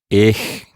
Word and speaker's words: ich: say ch exactly so one of them is like ich and the other is in the back of the mouth like bach yes so when you